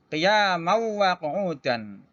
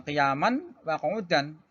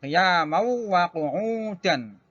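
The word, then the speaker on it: قِيَامًا وَقُعُودًا: Maka cara membacanya adalah qiyamau wa qu'udan. Ini dimasukkan kepada huruf yang kedua itu wawu, ya. Bukan qiyaman wa qu'udan. Nah, dibacanya qiyamau wa qu'udan. Ditasdid wawunya.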